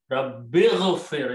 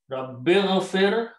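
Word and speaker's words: رَبِّ اغْفِرْ: When you read together, Rabbighfir, you don't pronounce this one. There's a vowel in between. So you don't pronounce this alif. Warham. Rabbighfir, oh my Lord, forgive.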